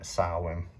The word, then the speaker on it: Samhain: maybon depends how you say it and uh sarwin the my candle is lit in the middle